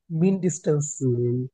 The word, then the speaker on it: mindestens: Es ist meistens মিন ডিস্টেন্স, 300 von অনেকের উচ্চারণ ভুল হয় কেন জানি না। মিন ডিস্টেন্স, মিন ডিস্টেন্স, mindestens মিন ডিস্টেন্স।